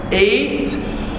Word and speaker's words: eight: Also we have G and H are silent letters. Eight.